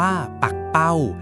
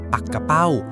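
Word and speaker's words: ปักเป้า: กัน เช่น คำ ว่า ปัก เป้า เขียน เหมือน กัน แต่ บาง ที ก็ หมาย ถึง ปลา ใน ทะเล บาง ที ก็ ออก เสียง ปัก กะเป้า ที่ หมาย ถึง ว่าว ที่ เด็ก ๆ ชอบ เล่น นั่น เอง จับ ทำ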